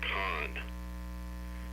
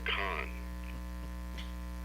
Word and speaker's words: CON: an acronym it's pronounced khan it's a con just like you're used to thinking of what that word means and it's meant it's